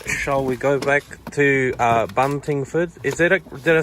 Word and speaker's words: Buntingford: Shall we go back to Buntingford?